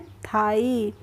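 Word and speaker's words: thigh: एचआई जीएच है तो टी एचआई जीएच में जीएच है जो वो साइलेंट है इन लेटर्स में सभी में क्या है जी एच को साइलेंट किया गया है तो हम इसका उच्चारण नहीं कर रहे हैं तो कैसे पढ़ेंगे इसीलिए हम इसको पढ़ रहे हैं थाई क्या पढ़ रहे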